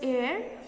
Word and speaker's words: heir: एयर मतलब वारिस, यहाँ पे एच साइलेंट होता है, इट is pronounced as एयर।